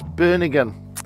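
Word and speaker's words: Bönigen: Now you told me earlier how to pronounce this, right? Bernegen.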